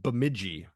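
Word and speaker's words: Bemidji: It's pronounced Biji. Bamiji.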